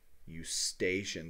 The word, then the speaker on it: Eustachian: it's often called the eustachian tube as well so this is the auditory tube and then in parentheses here I'll put you station so you know how to spell it you stationed tube